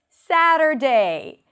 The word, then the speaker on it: Saturday: You start with the syllable s. That's the primary stress. Then we have a flap t and awah. Sad. End it with an r. Sadder. And then day. And that's an easy word. Sad day.